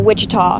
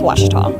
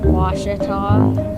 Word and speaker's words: Ouachita: Back in Texas, everybody pronounces it Wichita, but really, it's Ouachita. Ouachita. Ouachita. How would you pronounce it? Ouachita.